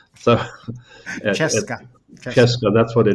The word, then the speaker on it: Krzeska: it has that name which of the village where it's made, which you so beautifully pronounce, Krzeska. So, Czeska. Krzeska, that's what the name.